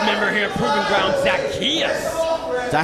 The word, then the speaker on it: Zacchaeus: I do admit, I'm kind of impressed by the styles of certainly our newest member here at Proving Ground, Zacchaeus. Is that how you say it, Zacchaeus?